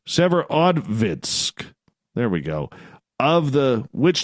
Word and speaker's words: Severodvinsk: I got to pronounce that right. Severodvinsk.